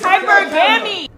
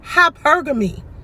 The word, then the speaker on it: hypergamy: ] stupid i practice hypergamy like ma'am at least say it right it's hypergamy lord i practice hypergamy i